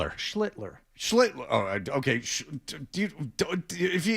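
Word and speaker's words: Schlittler: How do you pronounce Cam's name? It's Schlitler. Schlitler.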